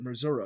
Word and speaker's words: Missouri: were from Missouri yeah if they're from Missouri they pronounce it mura apparently um you know